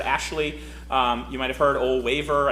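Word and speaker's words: Ole Wæver: Ole Waver, I think is how you say that. It's the one with the A and the E put together into one letter.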